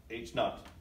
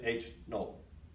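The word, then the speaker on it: H₀: Null because it assumes nothing has changed, and it's denoted by H little o here, which is pronounced not, H not, or they also say H null.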